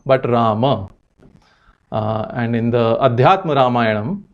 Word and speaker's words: Rama: Now, because of schwa deletion phenomenon in a lot of northern and western Indian languages, it's ubiquitously pronounced as Ram and even spelt as Ram.